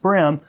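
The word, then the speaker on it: bream: exactly is a brim spelled b-r-e-a-m but pronounced brim well it's a broad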